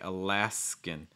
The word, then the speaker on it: Alaskan: alaskan and notice that it's going to finish with that same short i sound that salmon finishes with it's like alaskan salmon alaskan salmon same sound sound in in so make sure you're not saying like e in that's something i see a lot with students like alaskan and also make sure